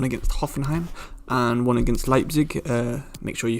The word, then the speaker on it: Leipzig: hoffenheim and one against leipzig uh make sure you forgive me if i do say leaps throughout this because uh that's just the way i've always said it wrong but um yeah we're